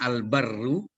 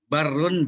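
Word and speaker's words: البَرّ: Ada yang bacanya Al-Barru, ada Al-Birru, ada Al-Burru. Barrun, birrun, burrun. Itu beda-beda maknanya tuh. Tulisannya sama, beda harkat doang.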